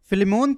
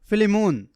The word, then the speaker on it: فلیمون: نہیں کر پاتا ہوں۔ پس کسی نے پیچھے کہا تھا فلیمون، جو کہ میرے خیال میں اس کا درست تلفظ ہے۔ اب پہلی آیت، میں